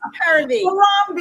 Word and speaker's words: Harambee: I said it wrong. It's Harambee. Harambee.